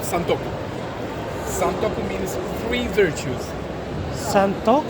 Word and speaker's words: santoku: all of these knives here okay are called santoku santoku means three virtues Santo Santo how do you spell it s a n t o q u